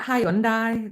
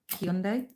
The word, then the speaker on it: Hyundai: It's like Hyundai the car. Will you say Hyundai? And always have. And then now they do an advert that says it's Hyundai. Hyundai. It's Hyundai. And that's how you say it.